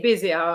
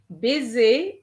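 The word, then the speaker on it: baiser: go like a snake unfortunately the word busy b-a-i-s-e-r doesn't have two s's okay so you have to say bezier actually i have already said it okay uh because there's only one s and you also have to remember guys that an s between two vowels gives you a zed sound so you made that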